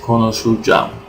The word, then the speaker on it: konuşacağım: Okay, and as I said, this soft g and u disappears, so we just remain. What's remaining is konuşacağım.